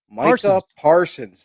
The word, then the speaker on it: Micah Parsons: Yeah, Micah Parsons Micah Parsons.